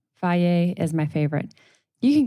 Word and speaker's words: Fage: F A G E is how it's spelled, but it's said Fage.